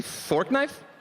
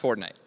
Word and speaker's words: Fortnite: Did you say fork knife? It's actually pronounced Fortnite.